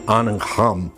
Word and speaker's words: Angham: So this one, I spell it out, ANGHAM, Anham.